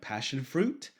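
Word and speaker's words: Passionfroot: You can look at tools like Passion Fruit, which is spelled like passion, F-R-O-O-T.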